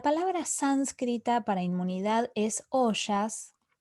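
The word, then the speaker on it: ojas: La palabra sánscrita para inmunidad es oyas. Oyas, esta J se pronuncia como SH y es considerada la capacidad de un individuo para mantener su salud y evitar las enfermedades en general.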